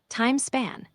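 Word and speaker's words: Hadean: The earliest chapter of our planet story is called the Hadian pronounced hydan roughly 4.54 billion years ago right approximately 4.0 0 billion years ago.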